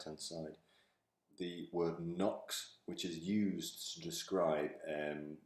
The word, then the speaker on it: NOx: it described by somebody, when they hear somebody pronounce the word NOx, they're going to put K-N-O-C-K-S in because that's how you spell NOx.